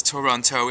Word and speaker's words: Toronto: known as Toronto or if you're from the city properly pronounced as Toronto it's a three-syllable word by the way torontonians